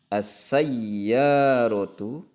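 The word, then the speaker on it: السيارة: As-sayyaratu. Kita membacanya itu harus tepat ya. Perhatikan hurufnya. As-sayyaratu sari'atun. Nah, membacanya begitu. Hurufnya harus tepat, jangan keliru.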